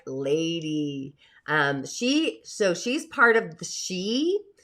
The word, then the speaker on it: Sidhe: She's part of the she. It's Sidhe, but it's pronounced she.